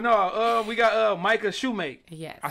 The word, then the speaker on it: Micah Shumake: yeah nevermind but no uh we got uh Micah Shoemake yes I said it right right you did